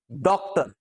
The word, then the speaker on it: डॉक्टर: डॉक्टर भी नहीं, डॉक्टर भी नहीं, डॉक्टर मतलब ना पूरा आ है ना पूरा ओ है।